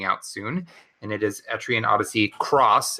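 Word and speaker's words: Etrian Odyssey X: and it is Etrian Odyssey Cross. It looks like an X, but it is pronounced Cross.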